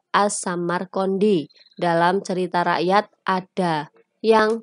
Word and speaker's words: As-Samarqandi: Babat Tanah Jawi versi Meinsma menyebutnya Asmorokondi, mengikuti pengucapan lidah orang Jawa terhadap As-Samarqandi dalam cerita rakyat ada yang memanggilnya kakek bantal.